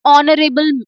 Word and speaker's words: honorable: So an air an honorable person. So h is uh silent here.